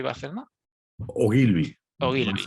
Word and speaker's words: Ogilvy: Eres director creativo ejecutivo y strategy advisor en la agencia de comunicación Ogilvy, ¿se pronuncia? Ogilvy Barcelona. Ogilvy, Ogilvy.